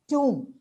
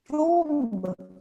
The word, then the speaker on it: tomb: For example, tomb, bomb, cow, lamb. And we tend to pronounce them as tomb, bomb, comb, lamb. But actually, the letter B is absolutely silent. It's tomb, bomb, cow, and lamb.